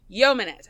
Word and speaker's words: yeomanette: Yeah, I think it's pronounced yeoman. Yeomanette.